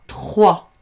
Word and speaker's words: trois: Tr et oua, trois. Et oui, le chiffre 3 s'écrit comme ça, avec un S qui s'écrit et qui ne se prononce pas.